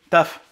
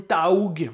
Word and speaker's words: Tough: de la résine gTECH comment on prononce ce truc ta ok taf la résine taf pour ceux qui parlent anglais comme moi je parle de la résine taug mais qui apparemment se prononce ta ta taf taf la résine taf bref